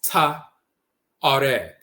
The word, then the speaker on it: Tuareg: Even the Tuareg, it's really not Tuareg, it's Ta-Areg. The T is the feminizing principle and so forth, but it's the Areg people.